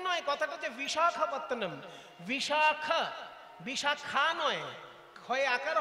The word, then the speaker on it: বিশাখাপত্তনম: বিশাখাপত্তনম, কথাটা হচ্ছে বিশাখ, বিশাখা নয়। বিশাখ আর বিশাখা আলাদা জিনিস।